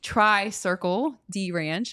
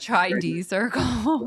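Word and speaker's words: Tri-Circle-D Ranch: then you've got um Tri Circle dranch I used to say the name wrong all the time and I think I got it right I used to always call it TR D Circle yeah so and literally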